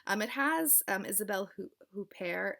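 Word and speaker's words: Isabelle Huppert: um it has um isabelle who pair in it um i think that's how you say it kind of americanized i'm sorry um who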